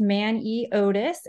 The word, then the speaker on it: Maneotis: and answer those uh so my last name is pronounced man e Otis and I just provide that because I know that that is a little bit of a tricky one so if that helps